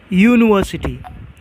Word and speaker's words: university: University, even though there is a letter, vowel letter U, but it sounds like a consonant.